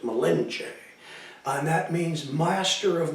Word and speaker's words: Malinche: Cortez milenge milenge a you always see it Mille inson they pronounced Malinche and that means master